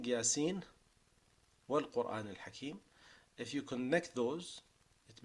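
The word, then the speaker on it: يس والقرآن الحكيم: the way of Shatibiyyah, the only way you're allowed to say that is by saying Yasin wal Quran al Hakim. Right? So you pronounce the whole letter, even if you're continuing. You pronounce the full letter with the full Nun and make idhar before the Waw.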